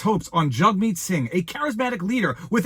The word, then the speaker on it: Jagmeet: meat sing is yes his name is pronounced jug meat he made that joke